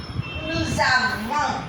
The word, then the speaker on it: nous avons: With nous avons, here also liaison occurs. We pronounce the letter S.